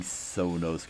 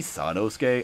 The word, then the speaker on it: Sanosuke: is it wait everybody I've been saying sonosuke is actually sanosuke I'm sorry for mispronouncing that I'll just say sakuma